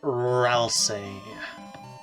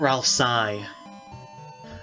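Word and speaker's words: Ralsei: say so that's funny next we have rousse which is the canonical pronunciation by the way uh not Ralph Psy as some people say e i doesn't equal I anyway so what if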